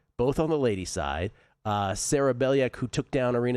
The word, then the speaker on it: Sara: No way Sara Bejlek Sara, I should say is really how you pronounce it.